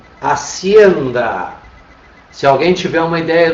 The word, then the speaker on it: hacienda: Onde é que está a nossa sílaba tônica? Hacienda. Ou seja, está na segunda sílaba, portanto ela não atende